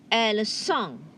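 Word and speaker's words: elles sont: here e le song el song remember the t is silent okay and you pronounce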